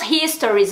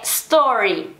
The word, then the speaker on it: story: Então acaba confundindo, mas essa do Instagram é story, porque eu escuto muito dizendo, ah, os meus histories, os meus não sei o que. Não, é story.